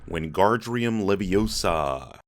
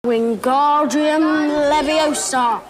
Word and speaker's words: Wingardium Leviosa: Ron said, "Whenardrium Leviosa." Wingardium Leviosa.